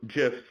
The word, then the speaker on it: GIF: emojis consumers have found gifs and yeah according to their inventor they are it's pronounced GIF are par to be